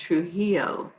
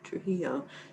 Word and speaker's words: Trujillo: to say her name she said the j is silent so it's true love trilogy though oh nice oh jean said yes okay so we're asking trudy because gene says the it's pronounced trujillo trujillo so yeah let